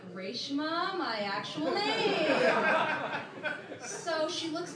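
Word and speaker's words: Raeshma: name is my goal name is actually reshma so that's r a e s h m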